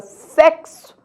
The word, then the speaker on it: sexo: é para ser analisado na palavra sexo o x agora ele representa dois sons o desenho a letra x não representa nem o som do X nem o som do Z nem o som do s mas o som do KS neste caso a letra x representa dois fonemas o k e o s ou seja uma letra